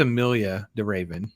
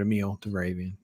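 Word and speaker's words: Emilie de Ravin: there's her name uh I think it's Amilia de Raven but Amil de ravan it's how you say her name so yeah oh she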